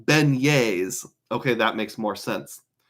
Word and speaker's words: beignets: Chad's Money Minute says, "Those are pronounced beignets." Okay, that makes more sense. Bignet sounds amazing.